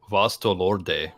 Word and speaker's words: Vasto Lorde: mean, Naruto does have some sick transformations like near the end of the series, but Vasto Lorde, and that's the proper pronunciation, Evan, who lives in freaking Cali.